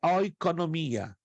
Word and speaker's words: oikonomia: A palavra economia vem de uma palavra grega, é como eu estou pronunciando, oiko, O-I-K-O, N-O-M-I-A, oikonomia.